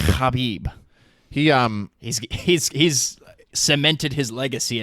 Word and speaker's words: Khabib: bit more sense Habib we got to start pronouncing his name right Habib Habib he he's cemented his legacy enough we have